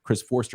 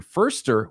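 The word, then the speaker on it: Foerster: because Christopher the uh and I always call him Chris Forster apparently you pronounce it first or the 49ers offensive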